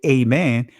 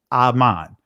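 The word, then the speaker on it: אָמֵן: That's how you pronounce it in ancient Hebrew. When you say amen, that is a transliteration.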